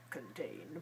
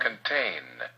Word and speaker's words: contain: a lower voice contain but he uses you know the syllable stress the second syllable the second still is stressed and long and clear pain the first so muskan is reduced and contain weak ok how about another